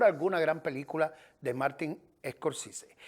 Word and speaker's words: Scorsese: Bueno, se pronuncia Scorsese.